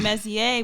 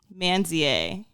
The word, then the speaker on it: Mezie: So when he says his name, sometimes I feel like when he pronounces it, there sounds like there's an N in it. So he was saying Mezier, but I was hearing like Manzier.